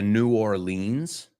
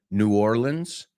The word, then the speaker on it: New Orleans: Hay tres formas de pronunciarlo. Yo antes decía New Orleans. Ahora digo New Orleans. Y ellos dicen Nolans.